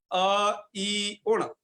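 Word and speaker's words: अइउण्: अ ई उण, ऐसे एक साथ नहीं पढ़ना, ऐसे ऐ उण कर देते हैं कई लोग, ऐसे नहीं पढ़ना।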